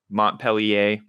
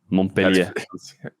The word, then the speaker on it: Montpellier: If you speak French, I'm sorry if you're personally offended by that. We've just had a million people correct our pronunciation, so I'm just inclined to pronounce it worse every time.